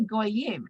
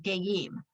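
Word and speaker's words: גאים: the little circle is, it doesn't say goyim. It does not say gimel vav yud mem. The way it's written is gimel yud mem, and it should be pronounced geim.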